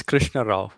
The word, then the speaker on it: Krishna: last name say it again because i couldn't pronounce it it's krishna krishna all right great yep so it's